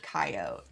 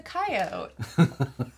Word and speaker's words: coyote: How to tell Nicole's from the Midwest she pronounced it coyote. It's a coyote.